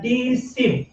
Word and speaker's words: deceive: উচ্চারণটা হয় ডিসি, কথা বুঝছেন কিনা?